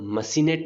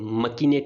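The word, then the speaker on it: machinate: देखो, इसको मशीनेट भी बोलते हैं और मकीनेट भी बोलते हैं, मैकिनेट भी बोलते हैं, मैशिनेट भी बोलते हैं, ठीक है। यानी सी एच को यहाँ पे क्या भी प्रोनाउंस करते हैं और शै भी करते हैं, ध्यान रखना आप।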